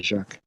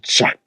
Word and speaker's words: Jacques: i like the way the british people say jacques i had an english friend call me jack jackson such a weird name that's why i changed it bro it's j-a-c-q-u-e-s yes got like four silent letters you know like it's